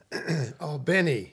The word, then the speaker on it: Albany: time City it was that in Albany Al Benny if you say it properly oh it's Al Benny